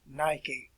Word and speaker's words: Nike: as this, and yelled the word Nika. We would pronounce it as Nike, the winged goddess of victory.